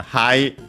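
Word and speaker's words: はい: And yeah, uh hi, uh is accented on the ha on the first syllable while um we have found it in the physical dictionary would be accented on the final uh uh syllable. on the E.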